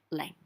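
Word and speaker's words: 零: So 0 is pronounced like leng, leng. And usually you'd think you'd write that L-I-N-G. Well, I use the Yale in China system. That's how I learned. And they use an H.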